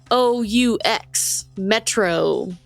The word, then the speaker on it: Metreoux: It's spelled French, because it's METREOUX, Metro.